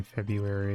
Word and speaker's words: February: mean 10 silly foreign shout out to the r in February that most people don't pronounce lunchtime February isn't